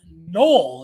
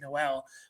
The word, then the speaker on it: Noel: We have Jaylin Noel. It's not Noel. I believe I said Noel in a previous video. It's spelt like Noel, but I think it's pronounced Noel.